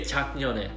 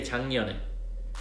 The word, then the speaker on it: 작년에: And if you focus on my pronunciation, I don't say 작년에, I say 작년에. But the way it's written is that it's 기억 받침 underneath 자, right?